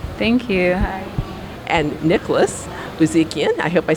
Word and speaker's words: Buzikian: And Nicholas Buzikian, I hope I said that right.